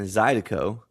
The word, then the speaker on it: Zydeco: we chose Cajun and Zydeco. I said it right this time, right? There you go. Yeah, yeah. It's Cajun and Zydeco. Yeah.